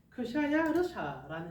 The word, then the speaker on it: 크샤야르샤: 그래서 실제로 이제 페르시아어로 음력하게 되면은 크샤야르샤라는 이름이랍니다. 크샤르야샤 이름 좀 어려운데 우리는 이제 헬라식 발음, 영어식 발음이 익숙하니까 크세르크세크로 이해해도 괜찮을 것 같아요.